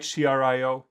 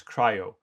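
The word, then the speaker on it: CRI-O: there's runc there's cryo you write crio you should pronounce it as cryo in this container d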